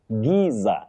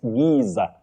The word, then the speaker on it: Giza: Finally, Victor Mandela, you say Giza. In British English, it gizer. But in American English, it ger.